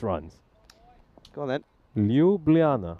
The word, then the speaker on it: Ljubljana: Ljubljana. There you go. There you go. That's how you pronounce the Slovenian capital. I think so. I hope so.